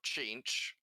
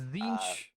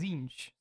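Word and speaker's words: Tzeentch: kind of in order, the oldest god is Zinch, or Chinch, depending on how you want to pronounce it. Some people That sounds almost racist. people go one way or the other on it. It is Zinch.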